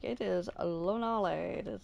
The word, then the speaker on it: Lonalé: much easier to pronounce. Um, possibly. I've heard people still say Lonlay and um, God, what was the other one that I was hearing all the time?